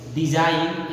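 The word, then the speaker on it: design: जैसे फॉरेन, यहाँ पे एन के पहले जी दिया हुआ है, ठीक पहले, डिजाइन एन के पहले जी दिया हुआ है, डाउटर यहाँ पे आपको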